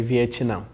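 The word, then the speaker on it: Vietnã: in Brazil we say viam everyone's kind of you like a in there like Vietnam viam so in in Portuguese you don't really pronounce the T sound that strongly like I don't know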